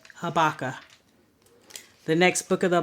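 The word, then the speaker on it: Habakkuk: next book of the Bible I hear this mispronounced habaka habaka h a b a k k u k habaka the next book of the Bible Zephaniah z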